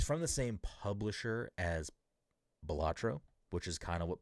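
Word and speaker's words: Balatro: because obviously Bellatro was Bolatro or Batro. Um, I don't think I'm ever going to say that name properly. I believe the correct way to say it is Bellatro.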